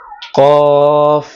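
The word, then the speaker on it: ق: তারপরের হরফের নাম হলো কফ। কফটা জিহ্বার গোড়া উপরের তালুর সাথে লাগিয়ে তারপর উচ্চারণ করতে হবে।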